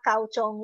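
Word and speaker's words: 高中: Satu bacanya adalah chuchong, satu lagi bacanya adalah kauchong ya.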